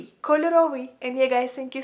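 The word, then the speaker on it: кольоровий: So if you want to say colorful in Ukrainian, you would say it like kольоровий, kольоровий.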